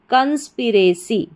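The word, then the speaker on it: conspiracy: तो क्या बन गई पूरी स्पेलिंग? फिर से देखें। CONS, कंस PIPRA, रे। CY C, कंस्पिरेसी।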